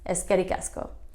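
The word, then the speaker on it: Eskerrik asko: Eddie Gasca sketti Casco it's a lot of syllables and you kind of say it like it's one word but it is two words is scary asko put it together ask Eddie Casco and that is thank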